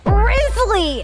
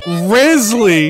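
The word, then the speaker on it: Wriothesley: You guys want to know how you fucking pronounce that shit? Rizzly! Rizzly!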